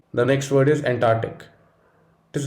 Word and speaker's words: Antarctic: the next word is antarctic it is not antarctic the correct pronunciation would be antarctic just think of an arc of ants and ant arc and that should help